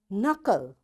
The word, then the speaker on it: knuckle: knit, knob, knee, and knuckle, and knowledge. You see, in all these words, because K is there and right after K there is N, that's why this K is silent, right?